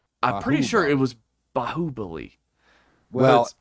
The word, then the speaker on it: Baahubali: to watch, is it Baahubali or Baahubali? Cause I think it's Baahubali. That's how they said it in the movie. Baahubali. I'm pretty sure it was Baahubali.